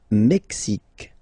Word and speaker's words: Mexique: Le Mexique, le Mexique. Mexique. It's really the X. Huh? Le Mexique. And then remember this Q-U-E, it's only K. Mexique.